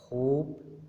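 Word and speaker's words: hope: होप, drive, gave, right और site, यहाँ पर जो ई है ये नहीं प्रोनाउंस किया जाता।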